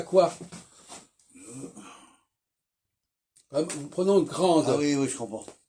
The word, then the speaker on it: grande: au masculin, le D se prononce pas, mais au féminin, il se prononce, puisque le E y est rajouté.